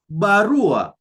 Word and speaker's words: barua: If you listen to how I'm pronouncing the word barua, you see, barua, I'm stressing on the second last syllable, which is r.